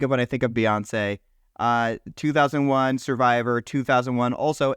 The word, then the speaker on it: Beyoncé: saying her name wrong I keep saying Beyonce and I feel like it's beonce but then when I say beonce I feel like that's wrong I you're saying it right can we just Beyonce it's Beyonce yeah beyon I feel like